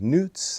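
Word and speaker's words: Nooz: these are from a company called newts i think that's how it's pronounced n double o z highly recommend these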